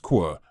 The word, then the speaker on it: Kuò: Following the death of Emperor Daizong, his son Li Shi, pronounced Qua, ascended the throne as Emperor Dizong.